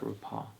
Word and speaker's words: RuPaul: But you didn't stop at RuPaul. I don't remember what I said, And you'll but I was doing wall. RuPaul rhymes with wall.